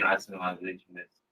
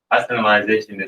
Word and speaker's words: isolationist: Wasn't Japan isolationist? Isolationist. Try again. Isolationist. You were adding syllables.